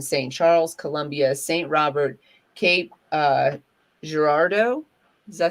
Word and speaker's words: Cape Girardeau: Is correct the way we pronounce it. What'd you say? Cape Girardeau is correct the way we pronounce it.